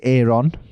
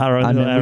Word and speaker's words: Aaron: Americans say Aon, which is wrong. Little Aaron. We say Aaron because that's how it's spelled.